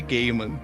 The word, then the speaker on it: Gaiman: que ele fez os meu nome é Neil Gaiman Eu já ouvi meu nome pronunciado de várias formas diferentes e Gaiman é muito popular mas definitivamente é gay mano só é que eu